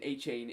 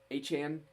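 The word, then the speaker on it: Achane: Everybody's saying A-Chain, and they got moved to what was it? A-Chan.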